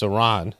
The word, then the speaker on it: Iran: and finishing off Iran because Iran it's Iran like like you don't know how to pronounce it you're like a you ran for president right but they went